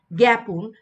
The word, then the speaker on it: জ্ঞাপন: তো শব্দের শুরুতে যুক্ত ব্যঞ্জন দেখা যায় যে এই যে তোমরা দেখতে পাচ্ছ গ আকার থাকলে তখন কিন্তু আমরা এ উচ্চারণ পাই। যেমন এখানে জ্ঞাত যেমন জ্ঞান যেমন জ্ঞাপন। তো এগুলো কিন্তু এ উচ্চারিত হয় কিন্তু আ উচ্চারিত হচ্ছে না।